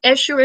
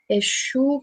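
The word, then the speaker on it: Exu: Eshu, in case you guys were wondering, Eshu is spelled E-X-U with a little at the end.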